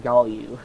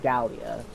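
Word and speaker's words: Gallu: I think it's pronounced Galio, not Gallia. Galio. Because you got G-A-L-L, Galio.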